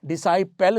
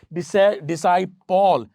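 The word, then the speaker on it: disciple: ये तो पेल है, डिसाइपल थोड़ी है। डिसाइपॉल, प्रिंसिपल, मिस्टर पॉल, तो ये तो कोई बंदा होता है, ठीक है, ये पॉल नहीं है, डिसाइपॉल नहीं है, डिसाइपल है।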